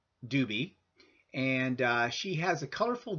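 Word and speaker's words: Dube: But she's well worth the watch, so I highly recommend that you check out Carolyn Doobie. And Carolyn is spelled C-A-R-O-L-Y-N, and her last name is spelled D-U-B-E.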